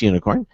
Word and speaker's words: Unikrn: to be talking to unicorn now it's spelled un I krn not the traditional way for for you spell unicorn but it's pronounced unicorn and this is an